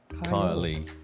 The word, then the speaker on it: Kylie: Pronounce the last letter of the word. Kyle. Kylie. Yeah. Yeah, it ends in E, doesn't it?